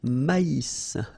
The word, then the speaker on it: maïs: L'avoine, le blé, here, accent aigu, et le maïs, so here you get this tréma, so maïs, maïs, and then you pronounce the final S, maïs.